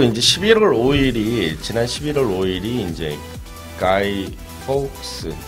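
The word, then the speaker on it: Guy Fawkes: 그리고 이제 지난 11월 5일이 이제 가이 폭스 이거 발음 잘해야 돼요. 폭스거든요.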